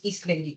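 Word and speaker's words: Isleidy: Bent the first name my name is East Lady East Lady and would you thank you for the pronunciation thank you that is the name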